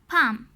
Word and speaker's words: palm: Talk, walk, half, काम, palm. We do not hear the letter L when we say them. जब हमने इन words को से किया, we don't hear the letter L. The letter L is silent.